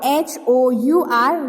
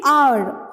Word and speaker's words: hour: When we pronounce the word H-O-U-R, we do not say hour, okay? But we say R. We will keep this H in silent, okay? So our pronunciation will be R, okay?